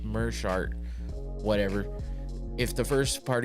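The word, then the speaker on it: Meerschaert: I I found out I was everyone says mirart because it's Meer but it's actually pronounced merart whatever if the first part of your name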